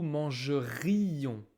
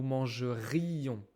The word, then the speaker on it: mangerions: Attention à la prononciation avec nous et vous. Conditionnel. Nous mangerions. On entend le i. Nous mangerions.